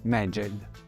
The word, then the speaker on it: Meged: Il geroglifico seguente, parzialmente perduto, raffigura una sorta di telaio e si legge Meged.